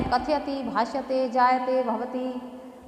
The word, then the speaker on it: कथयति: अर्थात रेखांकित जो पूर्ण वर्ण है, कथयति, भाष्यते, जायते, भवति, तो जो संयुक्त हो या पूर्ण हो वह शुद्ध उच्चारण वहाँ पर बोलना अपेक्षित है, न कि हलंत रूप से बोलना। कथयति हो जाएगा कथयति, भाषते, भवति, चलति, भाषति।